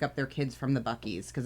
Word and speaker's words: Buc-ee's: Buc-ee's money.